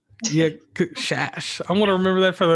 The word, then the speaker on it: Szasz: It is pronounced Shash.